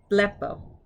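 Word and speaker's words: βλέπω: used to the format blepo blepo and notice we have that omega at the end so you actually get the long o sound of course in english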